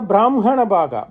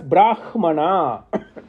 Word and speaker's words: Brahman: because hakara becomes Makara whereas in vic text it should be pronounced as Brahman that is how they